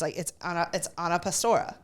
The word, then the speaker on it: Anna Pastora: They say it wrong. It's Anna Pastora. Yeah. So you don't really say the A in the Pastora either. It's Pastora.